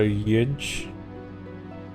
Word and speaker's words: Yidge: Pronounced like the G in garage, so Yidge? Okay. Like Djibouti, Yidge, okay.